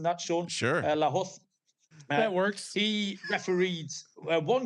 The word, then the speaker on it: Lahoz: Is that how we're pronouncing that, Sean? Sure. Lahoz.